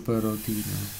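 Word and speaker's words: بَرَد: Wa maul barodina, bacanya itu bifathir ra ya, bukan bardi tapi barodi.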